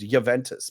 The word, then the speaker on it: Juventus: Anytime I've ever heard a player or a sportscaster talk about Juventus, it's pronounced with a Y rather than H. It's Juventus, but I mean, for years though, chat's saying you're right that it's Juventus.